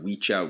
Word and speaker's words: wicca: So it's like Wicha Wichi is how you actually pronounce it in Old Anglo-Saxon.